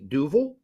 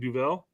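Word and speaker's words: Duvel: by the way I am tonight drinking a duil that is how it's pronounced in Belgium I was been corrected um many years ago and how did you say originally you were saying Duell duel yeah it's what it looks like to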